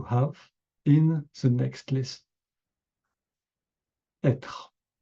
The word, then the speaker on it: être: I know it may be difficult for foreign people to pronounce r, être. So, to help you, try to do like a growling dog. A growling dog do r. So, you say être at first, être like a dog, and after être, être, lightly, être.